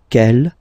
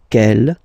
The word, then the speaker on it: quel: And the good news is that you will pronounce them the same way. All right, so quel, quel, quel, and quel.